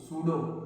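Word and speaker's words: pseudo: पी एच यू एस एच आर डी ओ सूडो इसको सूड सूडो मतलब पीए silent होता है।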